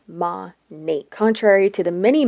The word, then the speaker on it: MONAT: two words modern and nature and it is pronounced ma Nate contrary to the many mispronunciations by its Distributors on social media it is not Monet Monet Minot monat or monate they are headquartered in Doral Florida which is